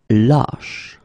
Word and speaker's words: lâche: Same thing here, when you get this circumflex, lâche. Okay, so this a is actually lower or deeper than the previous we had, okay?